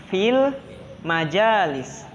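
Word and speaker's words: في المجالس: Ini berarti cara bacanya fil majalis. Fil majalis. Cara bacanya harus dengan suara yang jelas.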